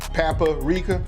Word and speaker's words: paprika: Excuse me, let me go ahead and say it right, because everybody be hitting me in the comments. I like the way he says paprika. I know it's paprika. I got it.